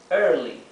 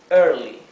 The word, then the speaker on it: early: Tenemos early, early, ¿sí? Traten de pronunciar la R como la R inglesa, con la lengua bien hacia atrás, atrás del paladar.